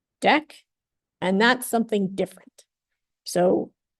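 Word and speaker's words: deque: qu e e so this is pronounced deck and that's something different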